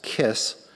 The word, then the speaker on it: KISS: The Keck Institute for Space Studies, or as the acronym is pronounced, KISS, is an organization that tries to bring the public close up to topics of space exploration.